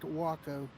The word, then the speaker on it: Waco: you pronounce it yep it's pronounced wacko yeah wacko so it has nothing to do with texas waco or waco texas i was going to